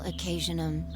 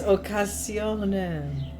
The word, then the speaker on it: occasionem: Elapsum semel occasionum. Occasionum. Jupiter. Jupiter. It's spelled with an I, but she pronounces it Jupiter. Drives me crazy. Occasionum. Occasionum. Occasionum. I hate her. Occasionum. It's occasionem.